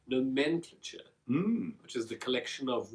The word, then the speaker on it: nomenclature: like that word nman clater how do you pronounce it nomenclature nomenclature which is the collection of words that we